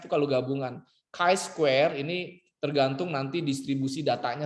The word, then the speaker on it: chi-square: Lakukan uji Z, T, F, atau chi-square. Chi-square, bukan chi ya, chi bacanya, chi-square.